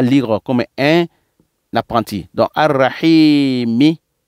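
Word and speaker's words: الرحيم: Ça dit que tout ce qui est les dernières lettres du mot, on va les prononcer. Tout ce qui est dernière lettre du mot, d'un mot, on va répéter. On va répéter, on va prononcer la lettre, dernière lettre qui vient dans un mot. On va dire Ar-Rahimi. Quand on sera professionnel un jour, on va dire Ar-Rahim. Donc, Bismillahirrahmanirrahim.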